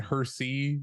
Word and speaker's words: Hersey: Looking at the chat, my name is Hersey. It is pronounced with an O, and Hersey like the candy bar without the second H.